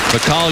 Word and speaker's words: Michal: That's something to say, but pronounced Mikhail Jordan.